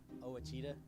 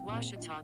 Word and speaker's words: Ouachita: university back in texas everybody pronounces it wichita but really it's ouachita washington washington how would you pronounce it it's washita baptist university get it